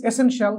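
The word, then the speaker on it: essential: এটারে শিয়াল বইলো না যত জায়গাতে টি আই এল থাকবে ওটাকে আমরা উচ্চারণ করব শ্যাল যেমন পার্টেনশিয়াল ইনফ্লুয়েনশিয়াল এসেনশিয়াল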